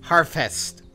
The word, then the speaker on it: Harfest: I mean, Harfest. It's pronounced Harfest. Harfest. It's like breakfast. It's like harvest.